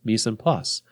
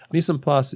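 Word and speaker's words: mise en place: that chefs have called me sand puss that's everything in its place it's French and I didn't pronounce it in a French way me some pus is everything in its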